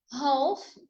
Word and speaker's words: half: So the letter L is silent in half and calm.